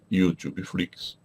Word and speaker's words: YouTube Flix: E se você tem essa dúvida, você deve entrar no meu canal chamado YouTube Flix, escreve-se com U inicial, pronuncia-se como em inglês, YouTube Flix.